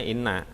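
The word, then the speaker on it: إنّ: Jadi kita nggak tahu ini baca inna atau anna gitu. Ya. Nanti dengan kaidah-kaidah ini kita tahu ini bacanya inna gitu.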